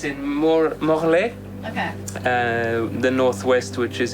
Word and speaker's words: Morlaix: How did you pronounce it? Morlaix. So Morlaix.